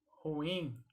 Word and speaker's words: ruim: ruim e é mais a pronúncia correta ela é uma palavra oxítona portanto o yin é a sílaba que deve ser pronunciada mais forte é então em vez